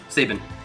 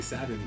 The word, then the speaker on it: Sabin: Sabin. Correct. Does it count that he didn't say the name correctly? How do you say it? It's Sabin. Sabine?